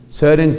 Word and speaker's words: Søren: Y el Søren se escribe S-O-R-E-N, con una O rara que existe en el idioma danés y que se pronuncia, entiendo yo, como E, como una mezcla entre O y E. Søren Kierkegaard.